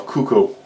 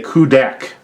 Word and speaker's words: Kudakk: I always want to call him a Kuko. It's not Kuko. That's Legend of Zelda. He is a Kudakk.